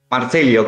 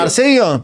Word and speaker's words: Marcello: Marcelio con doble L. Marcelio. Ah, Marselio. Pero si dice Marselio porque a veces se dice como que se pronuncia una sola L.